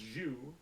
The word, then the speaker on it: jus: That word would be pronounced jus. Jus. It's like an actual thing. Yeah. Des Like the Jus. thing you get with like a French dip sandwich.